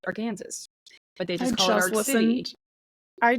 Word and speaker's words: Arkansas City: my turn today so we are going to our Kansas City in Kansas they call it Ark City it's spelled like AR Kansas so also Arkansas if one would see but it is pronounced our Kansas but they just Callen I just listened to